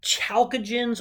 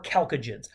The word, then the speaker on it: chalcogen: Those are called, now, depending who you talk to, chalcogens or chalcogens. I don't care how you pronounce it. I actually kind of flip between. I think I focus on chalcogens. It looks like chalk to me, chalk. But I've heard people say chalcogen.